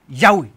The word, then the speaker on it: Yahweh: the Christian Church testify that the name was pronounced Yahweh what's that called the encyclopedia Britannica volume 23